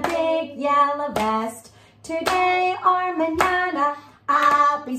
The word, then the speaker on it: mañana: Today or mañana, I'll be saying can I have a banana? Mañana means tomorrow in Spanish. Yes, and it rhymes with banana.